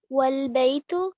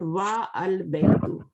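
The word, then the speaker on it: والبيت: Wal baytu. Wal baytu. Not wa al baytu. Okay? Wal baytu.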